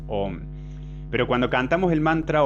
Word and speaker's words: Om: De ahí viene, por ejemplo, el mantra Aum, A, U y M. Por regla de fonética, cuando una A se junta con una U, el resultado es O. Por eso decimos Om.